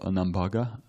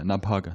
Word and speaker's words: Nabhaga: in the lineage of Nambaga or did I say it right yeah nabhaga excuse me nabhaga and that's as Maharaj